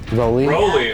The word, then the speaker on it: Rowley: It's “Row-ly.” Rowley? Oh, we were gonna say it wrong.